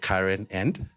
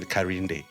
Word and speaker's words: Karen End: Apparently, it's supposed to be called Karen End, but because the people who live there did not know how to say it well, said Karinde. So it's actually Karen End.